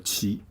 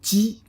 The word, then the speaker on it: 奇: Okay, it's called a 奇. You can remember 大可. Okay, so this is big, extreme, but people like them. Okay, and so it's called a 奇. All right. Now has another pronunciation as 鸡.